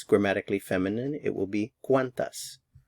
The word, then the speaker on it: cuántas: The stress is on the first syllable, cuán. ¿Cuántos? ¿Cuántas?